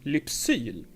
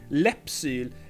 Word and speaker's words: Lypsyl: Actually, I would say a lot of people say Läppsyl. Läpp is the Swedish word for lip, but the brand name is spelled like this, Lypsyl, and in real Swedish it's called.